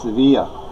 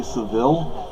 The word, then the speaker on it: Sevilla: el but City yeah Double L is pronounced like a Y or an e but they looked at